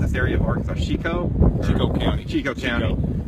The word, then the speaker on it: Chicot: to ask you this is how do you pronounce this area of arkans chicoo County chico County it's really just the county